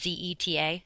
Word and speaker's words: zeta: All right, and the letter Z does not make a buzzing sound like it does in English. You just pronounce it like an S. So, for example, how you say Z in Spanish is Z-E-T-A, zeta, not zeta, but zeta.